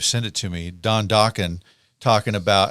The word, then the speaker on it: Dokken: So he just called it Dokken as just kind of a placeholder. Right. Right. He's like, it rhymes with rockin', we'll figure out something else later on.